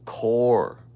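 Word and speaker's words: QoR: Golden, I think they pronounce this core. Q-O-R.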